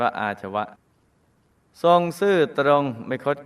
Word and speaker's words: อาชวะ: ทุก อย่าง 4 อาชวะ อ อ่าง สระ อา ช ช้าง วอ แหวน สระอะ อ่าน ว่า อาชวะ ทรง ซื่อ ตรง ไม่